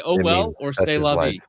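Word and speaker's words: c'est la vie: I just think it's funny that you just pronounced that as sieste la vie. Yeah. As opposed to what you've been saying the whole time. Oh, say la vie.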